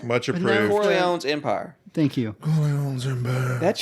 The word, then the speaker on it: Corleone's Empire: Cornet. Is it? How do you pronounce? Much approved. Corleone's Empire.